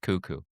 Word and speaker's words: KUKU: No, the radio station is KUKU. It's pronounced kookoo.